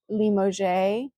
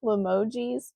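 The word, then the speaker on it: Limoges: But I'm going to pronounce it Limo. I have a tendency to want to say Limojis, but I don't think that's right. It is limo out of France.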